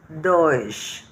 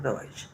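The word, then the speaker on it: Doidge: Y lo escribió el doctor Doh. Se escribe D O i D g e doctor doch.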